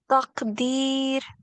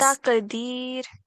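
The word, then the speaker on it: تقدير: So we will pronounce this letter here with jerk and in a thick sound with a fuller mouth. So try pronouncing only this word again, please. Taqdeer.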